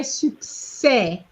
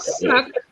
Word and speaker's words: succès: It's not suck. It's suc. So you, okay? You have to move away from the English pronunciation. Okay? Yes, you remember your letter U is U. So you have to say su, not su. Su.